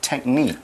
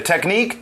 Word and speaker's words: technique: scientific study here we're talking about a scientific technique that's right a technique te CH n I qu e I'll spell that again it's tricky te CH tech ni